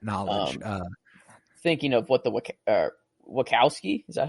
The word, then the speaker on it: Wachowski: be known that knowledge thinking of what the Wachowski is that how you say it yeah the wachowskis what they came up with uh that's insane